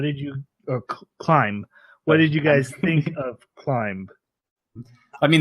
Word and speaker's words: Climb: I mean, the B is silent. I'm just being an ass, but yes. Oh, okay. So I say it like Clime. Would that work? Climb? Yeah, like you're climbing something.